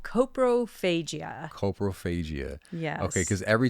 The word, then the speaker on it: coprophagia: How do you pronounce the medical term for that? It's called coprophagia.